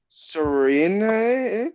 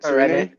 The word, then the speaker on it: Sarene: Serene? Sorry, is that how you say it? Sarene. Serene? Sarene. Serene. She meets Keen?